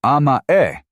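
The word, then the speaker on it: 甘え: It pronounced amae, it is a notoriously difficult word to translate into English. At its core, amae describes the innate human desire to depend completely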